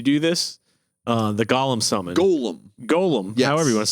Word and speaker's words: golem: I'm saying Gollum. Oh, Golem. Golem. I get what you're saying. It's Yes. Golem. So a golem. I don't want to lose more viewers from mispronunciation. Gollum is that little guy in Lord of the Rings. That's right. A golem is the Jewish rock monster.